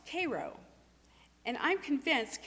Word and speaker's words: Cairo: The nearest town was Cairo, spelled like Cairo, Egypt, but pronounced Cairo. And I'm convinced, Cairo like the syrup, and I'm convinced the